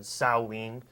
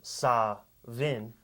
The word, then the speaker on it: Samhain: just sounds better and Sam pain actually has other pronunciations at as Todd said salween that's also got was i guess be considered saw vin which i guess in some places the w and the v are kind of the same thing so